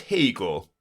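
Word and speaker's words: Haigha: His name is Hegel. He pronounced it to rhyme with mayor.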